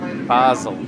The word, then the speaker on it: Basel: It's pronounced Basel. Basel. Yes. Basel. Okay. Isn't that how you pronounce the herb? Basil? Basil. That's how you pronounce it.